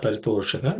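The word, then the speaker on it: परितोष: Tena raja paritosha. The sh is the only one which we have to pay attention, which is cerebral sh.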